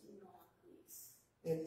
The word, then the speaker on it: ni nochwisa: Ni nochwis. And then ni noch, I'll sound this out in syllables. Ni noch wisa.